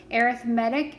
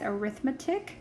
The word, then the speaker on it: arithmetic: arithmetic sequences and series arithmetic is spelled the exact same way as arithmetic so think um you know the word read like i read a book can also be i read a book it's kind of the same idea there an arithmetic sequence is